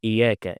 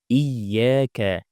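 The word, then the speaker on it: إِيَّاكَ: We don't say iyaka. It's not a, it's i. Iyaka. This ya has a shadda, so we need to pronounce two yas.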